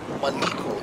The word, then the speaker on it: Maleko: that's it okay now your name is spelled like but it's Malo tell me about that